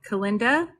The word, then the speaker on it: Kalinda: It rhymes with Galinda, like Kalinda, like that Yes.